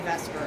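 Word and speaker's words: VSEPR: okay it's called the Vesper model I know that's spelled like it should be vper but we say Vesper I don't okay included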